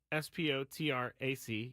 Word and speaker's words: Spotrac: Now, Spotrac, Spotrac, yes, it's pronounced that. Some guy told me that one time who worked for them. But he is if you